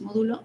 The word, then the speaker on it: módulo: Bien, entonces el módulo de elasticidad, que ya veíamos, módulo, lleva acento en la O, módulo de elasticidad se da en kilogramos sobre centímetros cuadrados, y para el concreto, bueno, aquí tenemos para el acero.